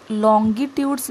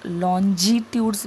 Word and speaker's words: longitudes: अब ये जो वर्ड्स है LONGITUDS, इसको लॉन्गिट्यूड्स भी बोल सकते हैं और लॉन्जिट्यूड्स भी बोल सकते हैं। Both the pronunciations are right. One is American pronunciation and second is British pronunciation.